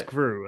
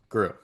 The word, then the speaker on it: Groulx: And then that brings us to Groulx. How are we pronouncing this, by the way? I think it's Groulx. I don't think Okay. I don't think the L is being said. Okay. Groulx.